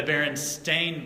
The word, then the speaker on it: Berenstain: here did you know they're not called the berenstein bears did you know that the berenstein bears is actually the berenstain bears it's spelled right here st8 IM we've all been